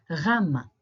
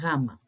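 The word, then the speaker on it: γάμμα: You might have heard gamma as gamma, like gamma rays, as we say in astronomy, but again, it's the wrong pronunciation. So instead of using a G sound, like gamma, I suggest you use a W. It's closer to the R sound that we use in Greek. So gamma, gamma.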